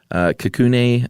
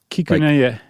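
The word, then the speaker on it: Kikunae: and his name is Kikune Akita. Is that right? Not bad. What did I get wrong? There's like an extra little half syllable in there. Kikuneya.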